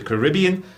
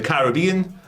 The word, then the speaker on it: Caribbean: in Latin America and the Caribbean the Caribbean yeah both work yeah I'll just say them both take both box both pronunciations both pronunciations one for the UK people one for the Americans dasty dnasty that elapsed